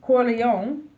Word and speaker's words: Corleone: Yes, Vito, how do you pronounce his last name? Corleone, feared murdered.